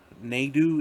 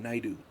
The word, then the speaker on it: Naidu: It's AJ Naidu, Naidu. AJ Naidu.